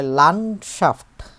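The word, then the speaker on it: Landschaft: ঘিরে আছে এটাকে বলে লানশাফট লানশাফট মানে হচ্ছে ল্যান্ডস্কেপ এটার ভালো কোন বাংলা আছে ল্যান্ডস্কেপের ভূমি বলা যায় না ল্যান্ড সকেপ লন্ডশাফট লানশাফট লকার নয়ড লান তারপর হচ্ছেশাফ এভাবে করে উচ্চারণ করব আমরা লানশাফ লানশাফটেন এটা বহুবচন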